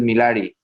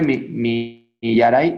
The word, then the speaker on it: Millaray: A ver, tú eres Milari. Hola, Milari. ¿Cómo se dice tu nombre? Millaray. Millaray, perdón.